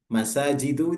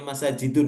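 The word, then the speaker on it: مساجدُ: boleh di ibrahimun ya masajidu itu enggak boleh bacanya masajidun meskipun enggak ada Alif lamnya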